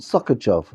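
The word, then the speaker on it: Sochaczew: And he lived in a place called Sokachov, that I pronounced incorrectly, so I apologize.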